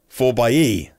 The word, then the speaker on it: 4xe: If you see 4X4 on a page, how do you say out loud? 4x4. So how do you say this out loud? 4xE.